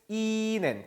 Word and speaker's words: Ihnen: "Wie geht es Ihnen?". 특히 "Ihnen" 에서 , 모음 뒤 에 'h' 가 오면 장모음 이 된다 고 말 했습니다 .